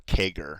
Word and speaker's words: CAGR: compound annual growth rate or kegger that's how you pronounce that cagr okay and the reason